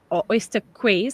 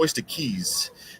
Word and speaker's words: Oyster Keys: So it's actually Oyster Keys. Uh it's pronounced Yeah. like a key that you put in a door.